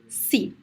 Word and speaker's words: se: a very short word as in the word c the pronunciation is a very weak e c this word is usually